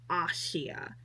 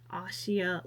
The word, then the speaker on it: Asia: you pronounce her name, even though it looks like it's spelled like Asia, but it's pronounced Ashia. Ashia Ledoska.